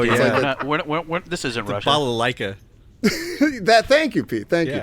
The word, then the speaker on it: balalaika: Zhivago, but I don't know how to pronounce it. I don't want to do it wrong. Oh, yeah. This isn't The Russia. balalaika.